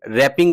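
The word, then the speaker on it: wrapping: यहां पे मौजूद है डब्ल्यू आर A double P आई एन जी जो कि रैपिंग पढ़ा जाएगा और डब्ल्यू जो है इसमें साइलेंट है।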